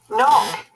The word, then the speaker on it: knock: Knock. Knock has got a silent K in also.